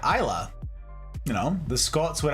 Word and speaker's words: Islay: Isles indeed indeed Jack not store isls except it's spelled i s l a y Isa you know the Scots would have a lot